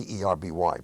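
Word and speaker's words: Derby: ship whose name happened to be Darby de rby but pronounced RB turned to me and he said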